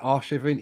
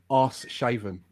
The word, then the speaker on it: Arshavin: Or Sorry, as Alan Shearer always used to pronounce it, every time he would talk about Arshavin, he would always say arse shaven.